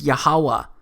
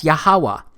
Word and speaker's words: Yahuwah: H it's pronounced as yahuwah because it turns out that the language was so simple back then that it vocalized each consonant with an AA sound without specifically marking that sound between consonants so this yhw H